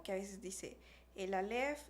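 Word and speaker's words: Aleph: que uno de sus cuentos más famosos es elale así se pronuncia parece vamos a decir que s la verdad dice alef Entonces qué es el alef qué nos viene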